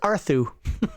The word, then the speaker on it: Arthur: Yeah, his name's pronounced Arthu.